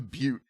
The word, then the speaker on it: Butte: It's a butte. Yeah, you know what? Butteville. It's or Butte or Buttes. We got the S in there. It's pronounced Butte.